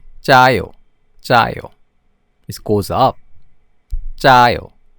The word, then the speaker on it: 짜요: How do you pronounce the tense consonant? You say it with a higher pitch. So 짜요, 짜요.